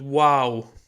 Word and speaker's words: واو: like the letter O, and sometimes ow, like in plow, for example, OW, which is the two letters actually founded in the word wow, the name of this letter.